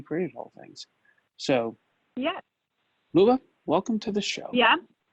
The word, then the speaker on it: Luba: My name is Luba, which is a very typical Russian name.